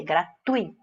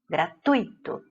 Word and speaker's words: gratuito: Lembre-se bem de que não vou nem pronunciar, que eu tenho até vergonha de falar, com vogal tônica I, certo? Não é gratuito, ui, gratuito. É paroxítona igual circuito, fortuito, ok?